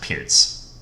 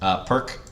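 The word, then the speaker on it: Pirc: be that guy, like, you know, actually, it's pronounced Pearts, just so you know. I've heard you mispronounce it all the time. It's the same thing with Alekhine. If people want to pronounce it Perk, I have no problem with it.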